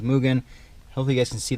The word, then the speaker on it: Mugen: Apparently it's pronounced Mugen.